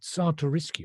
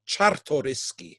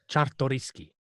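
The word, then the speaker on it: Czartoryski: The painting uh is best known uh as the Sariski Raphael. Now, have I pronounced that correctly, Vladimar? No, of course not. Not even close. Zeds are pronounced as hes. So, Chtoyski.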